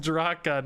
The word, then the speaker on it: Draka: Regis, it's pronounced Draka, not Draka. I'm surprised there's not some guy. It's Draka. In the old Orcish, it's pronounced Drak. Ah, I've been waiting forever to get a PlayStation 5.